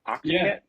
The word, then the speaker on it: octette: to say this octet o c t o qu tte e it's kind of like etiquette but an octette octet uh so there's